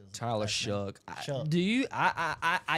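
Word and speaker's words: Shough: Tyler Shook. Do you I I I I don't understand how his his last name is what? S H O U G H. And you say Shuck.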